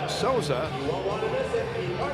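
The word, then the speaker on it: Sousa: Louis University Gets his third of the year with the assist from Lucas Souza. Lucas spells his name S-O-U-S-A. It's pronounced Souza.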